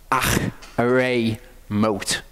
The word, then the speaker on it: Acharei Mot: It's more accurate to pronounce it as a H sound, because it's actually a Chet.